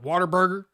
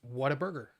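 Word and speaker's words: Whataburger: No, I do not say water burger. It's to me it's what a burger. What a burger.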